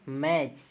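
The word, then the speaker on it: match: कोई भी वर्ड हो, टी के बाद अगर सी एच है तो टी को साइलेंट, जैसे कैच, फैच, ठीक है, मैच, ठीक है, वाच। देखिए हम टी को नहीं पढ़ रहे हैं, ठीक है, डायरेक्ट वाच पढ़ रहे हैं, ठीक है, मैच पढ़ रहे हैं, एम ए और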